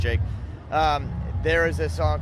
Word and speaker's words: JVKE: They actually have really good taste, but there's this guy Jake, JVKE. Yeah. But I think it's pronounced Jake.